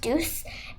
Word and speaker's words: duc: Duck or deuce, actually it's pronounced deuce.